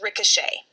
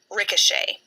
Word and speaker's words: ricochet: from the French language, the ET at the end is just pronounced A. Ricochet.